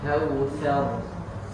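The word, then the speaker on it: كَوْثَر: Nah, di sini itu ternyata harus dibaca tebal semua. Kautsar, wanhar, abtar.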